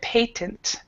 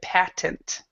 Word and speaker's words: patent: to let you know, we've had 2 pronunciations. Both of them have been correct. Your pronunciation that you did was British English. So you read patent. So that's British English. Where Lena, you read American English. You read patent. So Patent. They're both correct.